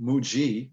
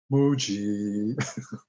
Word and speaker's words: Moogie: else it's a move it's a definite moo and then a ghee or it could be a g Muji I guess either way but mooji I think he's specifically he's asking